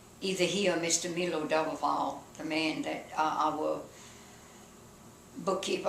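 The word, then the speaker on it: Daboval: Milo Doubleval, the man that our bookkeeper, our comptroller, I guess you could call him, and he, if Mr.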